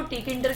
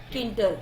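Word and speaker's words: Tkinter: तो यहाँ पे टी क्या है हमारा, silent. That's why we call as अ किंटर, ना कि टी किंटर।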